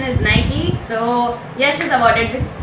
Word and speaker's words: Nike: So, both of them give the answer, but the correct pronunciation is Nike.